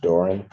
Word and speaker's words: Doran: And it's pronounced Doran. Doran.